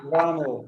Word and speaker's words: Wamel: Even that pronunciation was better than the Dutch shirt. So very good, Wamel.